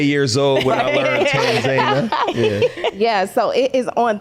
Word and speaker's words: Tanzania: Because I thought it was Tanzania. How you say it one? The people actually over there say Tanzania. I feel like people in America say Tanzania.